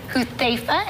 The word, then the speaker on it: Huthaifa: Huthaifa, am I saying it correctly? Yes, you are.